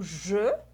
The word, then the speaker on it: je: Porque o je, eu, né, você pronuncia com um E fechado.